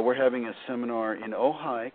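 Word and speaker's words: Ojai: having a seminar in ohigh California and that's spelled o j Ai and that's ohigh California where krisna myy used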